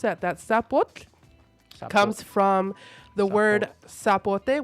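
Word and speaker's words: Tzapotl: And for people who might be asking how do you pronounce that? That sapot comes from the word sapote which is a fruit in El Salvador.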